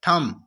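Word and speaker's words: thumb: उसके बाद थम, थम्ब नहीं बोलना, थम बोलना है।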